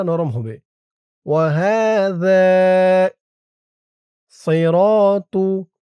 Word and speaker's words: صراط: ওয়াহাদা সিরাতু সি র সদের উচ্চারণটা খেয়াল করুন। সি বলা যাবে না। সি বললে সিনের উচ্চারণ হয়ে যাবে।